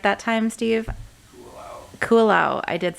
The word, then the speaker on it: Kualoa: Kualoa.